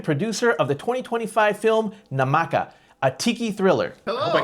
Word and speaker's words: Namaka: In this episode, we're talking to Frank Merl, film director and producer of the 2025 film Namaka, a tiki thriller. Hope I got that pronunciation name correct for the for the movie.